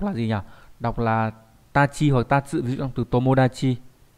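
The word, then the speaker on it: 達: đúng không đạt này đọc là gì nhỉ đọc là tachi hồi tát giữa từ tomodachi em có Moda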